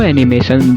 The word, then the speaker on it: anime: Doraemon, ये सब भी एनिमे ही हैं। कुछ लोगों को पता है कि क्या एनिमे होता है और क्या कार्टून होता है, पर वो प्रोनाउंसिएशन गलत करते हैं। वो एनिमे को बोलते हैं एनिम।